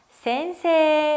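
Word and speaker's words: せんせい: 선생님은 바램 어떻게 썼죠 센세 라고 길게 발음 했어요 선생님이다 센세 에다 선생님이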